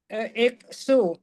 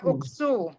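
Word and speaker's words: اُكْسُ: Iksu. Alifnya dibaca apa? Alifnya, oh salah, uksu.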